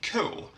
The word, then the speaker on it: K: And then we have the letter K, which in Swedish is pronounced ko.